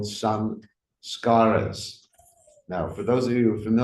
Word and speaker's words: samskara: So the word samskara doesn't mean ceremony, for those of you who want to know. The word samskara is composed of actually three syllables, but two parts, sang and skara.